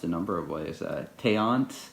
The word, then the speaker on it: Teance: Teance? Yeah, I could see it like pronounced a number of ways. Teance. It's like a seance, but it's a teance.